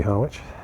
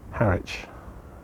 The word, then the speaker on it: Harwich: Yeah, maybe Harwich. Harwich. Another one of those pronunciation minefields. It's got a W in it. Too many silent letters in this language.